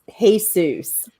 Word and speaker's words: Jesus: Yeah, Jesus, Jesus. He pronounces his name Jesus.